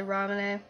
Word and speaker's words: Ramune: They usually pronounce their E's over in Japan, so I'm just gonna say Ramune.